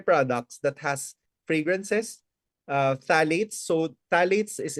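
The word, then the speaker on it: phthalates: remove personal care products that has fragrances uh phalates so phalates is spelled as p h p h a l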